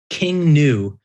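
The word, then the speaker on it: King Gnu: They're called King New, and it's King New is spelled GNU. I think they're pretty new.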